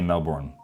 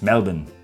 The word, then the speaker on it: Melbourne: Sylvia from Melbourne, she wanted me to pronounce it the way that Aussies pronounce it. I would usually say say Melbourne, but that's wrong. It's Melbourne.